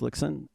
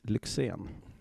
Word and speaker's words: Lyxzén: say it like properly so if I would say the American version would be Dennis lickson and then the Swedish version would be then this lexan oh okay yeah it's a